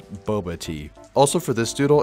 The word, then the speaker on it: boba: I'm gonna start off real quick by fixing some mispronunciations of mine. First and foremost, it's not Boab tea. I don't know what I was saying there, it's Boba tea.